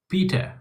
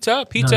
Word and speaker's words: Peter: Pita No. is more on the British side. Pita. Yeah, that sucks. Yeah, that's 100%. That's British right there. Peter. There's a D in there, so it's P, and then you say der.